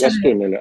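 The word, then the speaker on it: Гостомеле: напряженная, особенно после того, как десант вот в Гастомеле, правильно ударение ставлю? Да, в Гастомеле.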